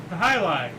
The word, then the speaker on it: jai alai: Jai alai, okay. Oh, now I know what it is. I've I've seen it before. Okay. I was mispronouncing it, that's why you couldn't Yeah, Jai alai.